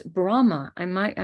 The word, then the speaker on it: Brahma: Brahma I might I may not be saying it with the B it's b-r-a-h-m-a Brahma not Rama that rules rohini star Brahma the archetype of creativity Brahma Vishnu Shiva so I'm sorry if my pronunciation renak was not being clear for you I'll try to make sure to Puff out that b a little bit more